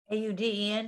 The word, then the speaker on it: Auden: Here's a quote from, is it Auden or Auden, Patricia? How do you pronounce that? Auden, who, Auden.